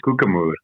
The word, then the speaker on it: Koekemoer: You're getting better, but it's Koekemoer.